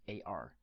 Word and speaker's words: 二: to me ers pronunciation is pretty similar with English AR so if you want to remember this easily just think of a are in the park or dark so AR AR AR